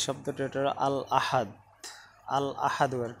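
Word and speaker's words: الأحد: তারপরে দেখো যে শব্দটি ওটা আল আহাদ, আল আহাদু আর কি, আসাব্দু আল আহাদু আসাব্দু, তারপর ওটা হলো আল আহাদু।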